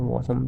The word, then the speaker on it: WASM: Web assembly कहते हैं, और वॉसम भी बोल सकते हैं। Don't get into the pronunciation, WASM होता है स्पेलिंग में।